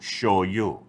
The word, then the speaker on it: shoyu: Gloria show you first how come they say show you instead of because that's the way I will show you is spelt on the bottle I noticed that Sh oh why you show you and if you go